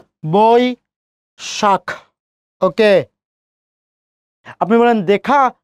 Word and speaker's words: বৈশাখ: স্মরণীয় এই বৈশাখটা খুবই গুরুত্বপূর্ণ, খেয়াল করি ওই আছে তাহলে বই শাখ, বই শাখ।